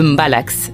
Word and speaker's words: mbalax: particulier retient notre attention le mbalax prononcé Mbala cette musique qui existe